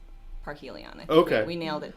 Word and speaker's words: Parhelion: or Park Helia well i'm pretty sure it's park Helion it okay we nailed it down once it's